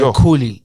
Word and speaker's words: Khuli: He always says Khuli, and it's a KH. Sorry, Khuli.